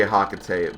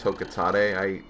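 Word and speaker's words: Hocotate: I always say Hokate, but apparently it's Hokotate.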